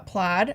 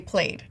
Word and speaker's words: plaid: that like I remember when I first learned the word uh plaid I would say played played played cuz I didn't know it's also like it's how it's spelled too like there's so many things in English where like the spelling doesn't make sense or it like Breaks